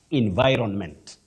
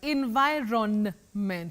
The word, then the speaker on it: environment: sounding in then vironment environment wow that's a surprise environment so the N is actually um is actually heard yes okay Environ environment yeah the N is pronounced okay environment such a